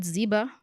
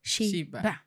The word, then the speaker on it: Xiba: And pronunciation of my name, it's not, it's not zeba. I don't know what people say. It's Shea.